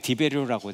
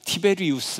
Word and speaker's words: 티베리우스: 뭐 디베리우스라고도 부르기도 하고 근데 이제 성경에는 디베리오라고 되어 있죠. 디베리우스라고도 부르기도 하고 디어미는요 나라마다 조금씩 달라요. 디베리오 그다음에 37년에서 41년 갈리굴라. 디베리오도 원래는 티베리우스 이렇게 되는 거죠.